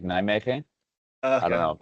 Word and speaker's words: Nijmegen: Yeah, so I would I would pronounce it as Nijmegen. Uh but but uh the Dutch kind of have like a like a an H sound on the G, so it's like Nijmeche.